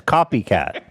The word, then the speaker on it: Copiicatt: Copycat. Copycat. Well, it's spelled weird.